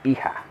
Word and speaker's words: hija: So we have the son is hijo, and the daughter is we have hija.